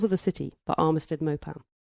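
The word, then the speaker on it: Maupin: the City by armad mopan is that how you say his name or mopan 1978 or mopin it's m a u p i n I would pronounce that mop oh just check your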